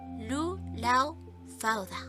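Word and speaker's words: Lugh Lámhfhada: Según McNeill, la superior inteligencia y versatilidad de Lugh se manifiesta en sus títulos de Lugh Lam Fada, pronunciado Lu Lao Fauda, y Samhilo Danach, Souvil Danush, igual de hábil en todas las artes.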